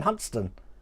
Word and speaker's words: Hunstanton: Yeah, well, like Hunstanton being Huntston.